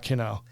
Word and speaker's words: Kino: Did I pronounce that right? Yes. Okay. I'll let you talk about Kino and then I'll introduce one.